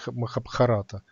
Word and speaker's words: Махабхарата: а я правильно называю, потому что правильно говорить Рамаяна и Махабхарата, а не Махабхарата.